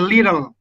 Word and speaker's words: little: Kalau orang Amerika, dia omong a little, itu T, kalau double T itu dia bunyi macam ke D. Jadi dia kebilang a little. A little. Kalau misalnya kita dengar orang Amerika yang omong, ada huruf T double, itu dibunyi model ke antara D dan T.